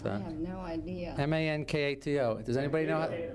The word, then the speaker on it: Mankato: How do you pronounce that? I have no idea. M-A-N-K-A-T-O. Does anybody know? Mankato.